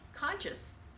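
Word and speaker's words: Conchis: symbolic that it conscious his last name is pronounced like conscious because he develops Nicholas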